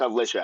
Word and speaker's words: Alicia: No, it's Alicia. I can't say it like a white person.